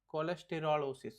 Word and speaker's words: cholesterolosis: Okay, the cholesterolosis. Sorry, that's the correct way of pronouncing.